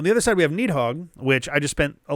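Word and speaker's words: Nidhogg: And it turns out the English version is essentially just Nidhthog. Uh, the the Norse one is like or something like that.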